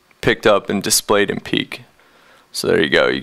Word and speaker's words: Piik: guys welcome to the hack existence demo of peak um this app is actually spelled p i